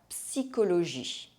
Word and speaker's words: psychologie: In some words, the letters CH are pronounced que. La psychologie.